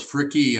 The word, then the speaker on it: Fricke: little talk with fricky i'm here with frick is that how you say your name real close freaky uh pronounce the e on the end you pronounce it yeah